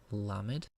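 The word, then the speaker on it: למד: the Hebrew alphabet is a low mid pronounce like English L la mid the next letter is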